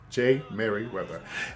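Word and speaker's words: Jey Merriweather: He goes by the name of Jay, that's spelled J-E-Y Merriweather, okay? J. Merriweather.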